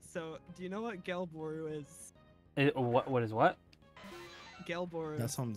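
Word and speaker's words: Gelbooru: I just asked the creator on Twitter how to pronounce it because I was curious and they actually answered. What'd they say? Gelboru.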